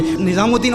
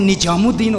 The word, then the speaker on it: نظام الدین: ادا نہیں کر پاتے۔ نظام الدین اولیاء رحمہ اللہ کی بارگاہ میں گیا تو وہاں کہتے ہیں نجام الدین اولیاء۔ ہندوستان بہت بڑا ہے،